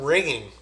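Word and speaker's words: wringing: There's another term, ringing, like your phone ringing, but it's spelled with a W, W-R-I-N-G.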